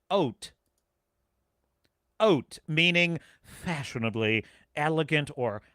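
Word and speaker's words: haute: I don't know uh adjective pronounced oat oat meaning fashionably elegant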